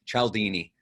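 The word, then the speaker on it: Cialdini: Albert Cal Dean e're I guess you said that Robert pronounces his name chal Dini and so and dr.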